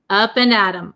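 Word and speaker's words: up and at 'em: we say Adam Adam it becomes a flap T so it sounds like a D sound up and Adam up and Adam up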